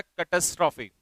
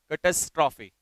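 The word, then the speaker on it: catastrophe: इसका प्रोनाउंसिएशन होता है कैटास्ट्रॉफी। क्या होगा? कैटास्ट्रॉफी।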